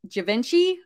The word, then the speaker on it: Givenchy: so it looks like the Cherry Amber is a good one here is a Givenchy Givenchy I think is how you say it 849 dollars but no a best offer was taken for 600.